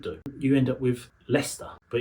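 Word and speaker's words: Leicester: You end up with leester but it's leester lei cester. Shiers are not pronounced shia they're pronounced sh.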